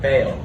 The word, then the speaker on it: Baal: Today we're learning about Elijah and the prophets of Baal. That's how you say it, Baal.